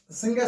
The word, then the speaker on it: संज्ञा: तो हम इसको जैसे संज्ञा शब्द की बात करूं तो संज्ञा बोल देते हैं उच्चारण करते हैं संज्ञा करते हैं संज्ञा मतलब शुद्ध उच्चारण कर तो संजा करते हैं लेकिन अपन बोलते